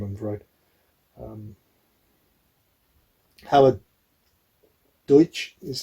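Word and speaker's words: Howard Deutch: can't remember his name on the road um howard deutsch is how you pronounce it i howard deutsch yeah because he's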